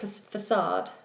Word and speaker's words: facade: We pronounce it facade, so the facade.